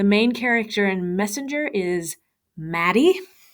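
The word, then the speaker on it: Matty: The main character in Messenger is Maddie. Not Matt, but Maddie. So Matt has reached 2 syllables.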